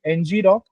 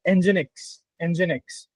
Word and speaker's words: Nginx: Yeah, so my main problem statement during that time was key, we for we used ngrock, not ngrock, nginx. I must have said it wrong beforehand as well.